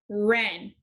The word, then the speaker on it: wren: Wrist, wrap, wren.